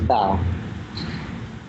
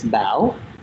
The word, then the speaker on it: Bao: to um certain people I say my name is ba when I think of my name in my brain it's bow and it has that question mark sound and that's a Vietnamese accent that complet changes the